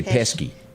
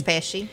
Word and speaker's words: Pesci: date pesci yeah see i was going to say pesky pesci i think it's patchy that's right that's right he